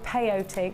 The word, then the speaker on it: peyote: think Debbie's shown it as well, is it peyote? They're really perfect for that because they I stick kept together. calling it coyote, didn't I? There's no wild dogs involved in, what's it called, IoT? Peyote. Oh, peyote.